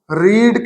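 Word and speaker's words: read: नवेल इज रीड की third form रीड यानी कि रेड स्पेलिंग सेम रहेंगे।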